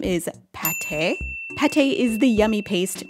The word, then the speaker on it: Pate: still a cute name they've taken away the circumflex from the a and the um accent egu from the e which doesn't give us any context about how we're supposed to say the name but i do believe it's pate because she's duck and duck liver pate which is delicious but